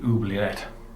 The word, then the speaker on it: oubliette: what they call the oubliette. I think that's the way they pronounce it. Sounds a bit French.